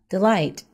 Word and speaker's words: delight: to sleep next one Delight the word stresses on the second syllable this word means great